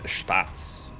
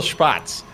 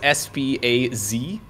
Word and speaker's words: Spatz: It's technically the same pronunciation, but I can imagine in the past, before he added the T, a lot of non-Germans would be pronouncing it as Spaz.